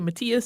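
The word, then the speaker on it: Matthias: pronounce it that way most Germanic languages say Matias so we're going with that and that's named after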